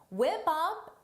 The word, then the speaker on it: whip up: Whip up is a phrasal verb for the pronunciation. Notice is whip up. Whip up. Whip up because of linking.